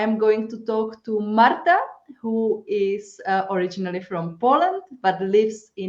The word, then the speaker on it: Marta: So I'm Marta, yes. Kind of got used to people calling me Marta in the UK because they just can't pronounce the R very often.